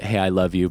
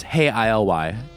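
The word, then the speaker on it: Hey, ILY: psychokinetic love songs and the way the band usually spells their name is hey ILY you know I pronounced hey I love you but it's hey ILY so you can go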